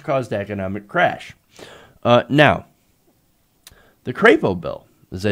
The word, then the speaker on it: Crapo: According to Business Insider, the legislation known as the Crapo bill, after Mike Crapo, I know that's not how you say it, it's Mike Crapo, but I call him Crapo for obvious reasons, would increase the threshold